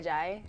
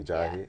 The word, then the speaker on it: Ajayi: How do you pronounce his name? Jay Ajayi. Jay Ajayi.